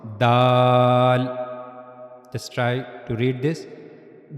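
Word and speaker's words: دال: the incizes upper incizers you have to use the top of your tongue This is the top of tongue and it will connect to the front upper incizers.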